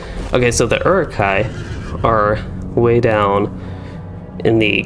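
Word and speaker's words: Uruk-hai: believe they are actually urukai and the h as far as i know is not pronounced all that much a little bit silent but maybe a little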